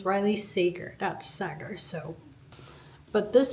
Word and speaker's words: Riley Sager: I am not good with pronouncing names correctly and I looked it up and it's Riley Sager.